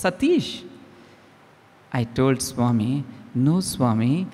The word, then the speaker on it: Sateesh: and told no Swami my name is Satish Satish Swami had asked in such a tone that your name should be satyanarayana and how do you say that it's Satish I told Swami no